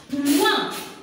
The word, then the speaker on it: point: Il ne va point. Point. Le T, elle est muette.